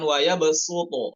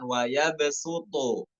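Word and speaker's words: وَيَبْصُطُ: Kemudian pada nomor 4 dibacanya bukan pakai sod, ya, di Al-Baqarah 245 itu bukan waya besuto, bukan pakai sod, bukan pakai sod, maaf ya, bukan pakai sod, namun pakai sin.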